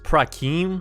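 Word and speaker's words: פרחים: So yeah, right now it has this text which is pronounced prakim, which is just Hebrew for flowers.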